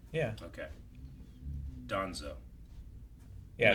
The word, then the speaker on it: Danzo: So I say it like D-O, but it's spelled D-A? Yeah. Okay. Donzo.